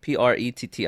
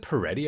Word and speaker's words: Pretti: Alex, yeah, Alex Pretty, Pretti. I guess that's right. Is it Peretti? I think Alex Peretti. Peretti, but it's spelled Oh, Pretti.